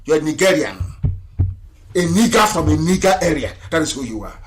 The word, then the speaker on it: Nigeria: sounds a bit okay the proper name is nika area nigeria if you go